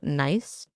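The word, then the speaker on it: gneiss: And these samples were officially analyzed and found to be granite, sandstone, and another stone called nice. That's literally how you pronounce it.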